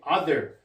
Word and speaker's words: other: 자, 이 발음은 other라고 봐요. other. 자, 이 발음도, 자, 우리말로 쓰면요. 자, 음성기어로 쓰면 other 이렇게 돼요. other. 자, other인데, 요거 우리말로는 어떻게 쓰냐면요, 이렇게. 자, 요건, 삭각 발음은 아와 어의 중간 발음이죠. other. 너도, 자, th 발음이니까, 너니까, other. 이렇게 쓰면 됩니다. 자, 다시 한번 쓸게요.